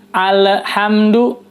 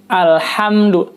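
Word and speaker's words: الْحَمْدُ: Lam sukun pada lafaz alhamdu ini. Jadi membacanya alhamdu itu salah, tidak tepat ya. Berikutnya yang kedua, salah menyebut bunyi huruf H pada lafaz alhamdu. Jadi bukan alhamdulillah, alhamdulillah. Yang betul adalah alhamdu, ham, keluar udara dari mulut.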